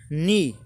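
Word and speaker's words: knee: नी, नी means घुटना होता है। देखो एन से पहले जब भी के आएगा तो साइलेंट रहेगा, जब भी के आएगा तो साइलेंट रहेगा।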